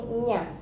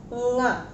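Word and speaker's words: ङ: You have a habit like reading nya, but in Sanskrit you have to pronounce it as nga.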